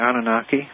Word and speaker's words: Anunnaki: The Anunnaki.